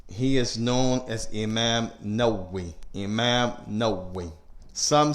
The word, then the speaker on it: Nawawi: is known as Imam Nawawi. Imam Nawawi. Some say An-Nawawi, some say An-Nawawi, and some say Nawawi. The scholars, they say both of them are correct.